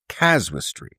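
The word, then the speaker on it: casuistry: of what was called caswistry. I I think I'm pronouncing it correctly. Okay, not causality but caswistry.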